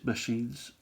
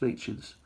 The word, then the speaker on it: Machin: But one of the old Queen's heads there, Machins, I think they're called. Or machines. I'm sure somebody will correct me with regards to the pronunciation. I think it's Machins.